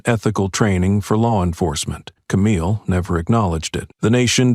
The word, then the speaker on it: Camille: "It's not Cammy, it's Camille," she said, like the woman who made the country listen.